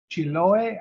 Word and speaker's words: Chiloé: And how do you pronounce that? Chiloé Island?